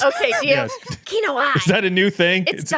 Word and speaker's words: Kinoite: Prove that what the correct pronunciation is. Kinoite. Jill. Kinoite. You gotta. Okay. I realize I haven't said it in a very long time. Kinoite.